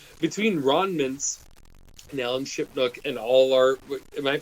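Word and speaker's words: Shipnuck: No, it's, well, between Ron Mintz and Alan Shipnook and all our... Am I pronouncing that right?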